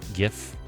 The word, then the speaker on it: GIF: But if you think like, hey, hard G GIF, 'tis a gift. Yes. Okay. Cool. We're all on the same page. The creator says soft G, but he is wrong.